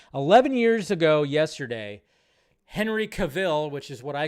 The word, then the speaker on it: Cavill: You know, I think a lot of people didn't know how to say his last name, but Henry Cavill, 11 years ago.